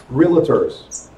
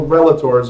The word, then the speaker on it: realtor: and still call themselves realtors. There's no A. There's no relation. There's no relators or anything like that. It's realtor, not realtor. Yes. And they write it as realtor.